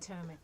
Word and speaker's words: Potomac: Potomac.